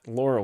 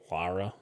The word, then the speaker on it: Lara: feel like other well Laura wouldn't either Laura what did I say Laura Lara Laura think of it it's her name is l L A R A so say that like it's spelled lra Lara yeah Lara yeah